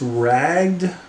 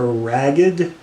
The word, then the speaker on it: Ragged: the rag tiger actually it's not pronounced rag a ragged I've never known but 7